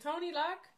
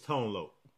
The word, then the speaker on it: Tone Loc: fun uh by Tony is it Tony Luck is that you say his name it's Tone Loc what Tone Loc okay